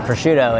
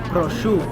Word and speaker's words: prosciutto: just so you know it's not prosciutto it's but I'll shoot I'm gonna say something